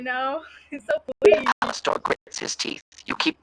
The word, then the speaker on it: Alastor: Alastor grits his teeth. You keep butchering my name. That I, is what you're doing. I, I didn't though. I literally said Alastor. Alastor. Alastor. It's Alastor, not Alistair.